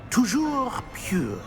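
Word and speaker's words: toujours: Tujour.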